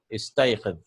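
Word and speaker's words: استيقظ: And we can't pronounce it, so we'll bring a istayqid. Yeah, we'll bring a kasra.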